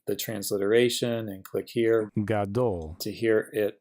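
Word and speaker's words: גדול: This symbol here is just where we're showing the accented syllable. Then we have a cholam vav and a lamed. So G, A, D, O, L, gadol.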